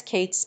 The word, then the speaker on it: k8s: Keith's pronounced as Kate's is a widely used platform for container orchestration